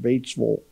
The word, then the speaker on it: Batesville: The locals pronounce it Batesville.